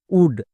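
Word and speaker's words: wood: এর ক্ষেত্রে ব্যতিক্রম আছে যেমন নিচের শব্দে দেখো ডব্লিউ ও আছে এর জন্য কিন্তু সাউন্ড হচ্ছে না যেমন উলফ উড এই দুটো হচ্ছে ব্যতিকরণ নেক্সট পাঁচ নম্বর ডব্লিউ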